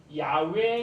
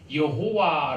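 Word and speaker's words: Yahweh: 같은겁니다 그래서 어 저 길을 보여주시고 한비야 이게 야외 애라고 하는데 조 이끌 짠 못 읽도록 알려고 점을 막 다른데 갖다 붙였습니다 그래서 나중에 사람들이 이걸 여호와 라고 읽었는데요 사실은 야외가 만나가 척의 지금도 야외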